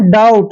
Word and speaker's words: doubt: Next word, next word है DOUBT, इसको पढ़ते हैं हम डाउट। देखिए दोस्तों यहाँ पे टी आया है, टी से पहले जब भी बी आता है तो बी हमेशा वहां साइलेंट होता है।